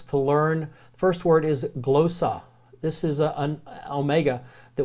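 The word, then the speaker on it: γλῶσσα: couple of words to learn first word is glow saw this is an Omega that will learn about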